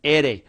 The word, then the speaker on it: ere: letter r in spanish we call it an ere or we call it an and when we do we spell it like this the letter is ere now